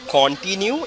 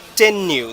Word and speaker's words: continue: So the right sound of this word is not continue, it's continue. The stress is here.